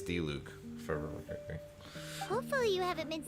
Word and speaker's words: Diluc: we're just doing the die luke limited time event uh or d luke really got to work on this pronunciation this is i don't hear that it's a very uncommon name so that every time i go to say it it's like i instinctively want to say die luke but it's it's i